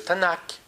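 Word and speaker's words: Tanakh: en trois ensembles aujourd'hui un juif moderne dit le tanac T N K et on met des a pour prononcer euh les trois syllables les trois consonnes en même temps donc t comme torora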